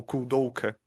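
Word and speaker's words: Koudelka: O primeiro jogo dela se chama Kudelka, ou Kudelka, como se pronunciam no jogo.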